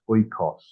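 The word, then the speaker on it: οἶκος: So it's oikos. From So which the I pronounced E in a way. No, this is omicron and iota together, just like English oi.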